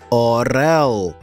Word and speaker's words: орел: Визначмо наголошений склад у слові «орел». Вимовмо це слово.